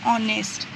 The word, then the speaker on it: honest: your and R, an honest person, where H is silent. We pronounce R, we pronounce honest, and here we pronounce hen.